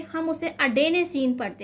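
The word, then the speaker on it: adenosine: लिखा मिल सकता है, एडिनोसिन भी लिखा हो सकता है, ठीक है, लेकिन इसे इंग्लिश में इसका सही प्रोनाउंसिएशन क्या है, तो हम कहेंगे अडेनेसिन।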